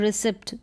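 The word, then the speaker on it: receipt: फिर है ई आई जो है यहाँ बीच में आ रहा है रिसिप्ट, तो यहाँ पर भी ई आई को भी हम ई प्रोनाउंस कर रहे हैं लॉन्ग ई के रूप में।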